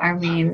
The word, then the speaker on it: Armin: Hello, Armin. Am I saying it right? Armin? Armin. Armin. Yeah, Armin. Yeah. In German, it's Armin, but that's a bit hard for Americans.